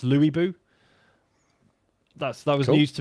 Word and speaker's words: Lu Bu: So I'm fighting Lu Bu now, which apparently is pronounced Louis Bu.